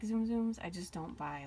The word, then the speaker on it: Tsum Tsum: just the side note I realize I'm pronouncing it wrong I tend to say zoom zooms and my niece is always correcting me saying it's Zoom Zoom so yes sorry I